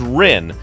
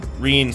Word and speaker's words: Rin: Reen, I'll keep, like switching between them because I pronounced it as Rin for the longest time, but traditionally it should be pronounced Reen.